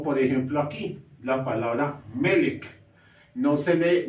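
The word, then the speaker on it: מֶלֶךְ: en hebreo Como por ejemplo aquí la palabra melek no se lee melque sino melek y esta palabra se traduce en español como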